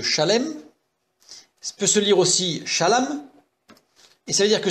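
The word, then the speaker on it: שָׁלוֹם: Shalom, parce que ça s'écrit légèrement différemment, c'est pas tout à fait la même lettre, mais ça se prononce pareil.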